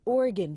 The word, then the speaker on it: Oregon: Mississippi" (gfx) ON TUESDAY, OREGON (pronounced or-ih- gun/not or-ih-gone) BECAME THE FIRST STATE TO DECRIMINALIZE POSSESSION OF SMALL AMOUNTS OF HARD DRUGS, LIKE COCAINE, HEROIN AND METHAMPHETAMINE .